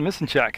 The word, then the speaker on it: Misenchak: I checked with him on his pronunciation, and that's how he pronounced it. Because I tried about 8 different ways to say it, and then I came up with Misenchak with him.